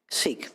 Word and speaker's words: Seek: Our last witness, is it pronounced Seek? Seek. Ms. Seek, if you would go ahead on behalf of the Automobile Club of Southern California.